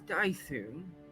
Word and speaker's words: Dythun: It is Dythun.